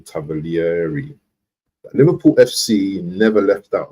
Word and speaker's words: Tavolieri: Reported yesterday by Sasha Tavioli, say his name, Tavolieri.